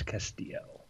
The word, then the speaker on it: Castillo: Bryce Castillo. Hi, guys. Huzzah. There are two L's, but you don't pronounce them. You just say they're silent. They're should be like a Y.